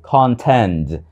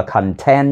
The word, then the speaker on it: content: contents đừng đọc là content nha được đọc là content từ đó nó có nghĩa là khác Còn này là content content từ có hai âm tiết Nhấn vào âm Tiết đầu tiên ở call call home